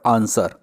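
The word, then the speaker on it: answer: का माइसेल्फ का विशेष silent letter in the word आंसर आंसर हम बोलते हैं तो आता है इसमें तो यह डब्लू इसमें साइलेंट हो जाएगा अ आंसर होता है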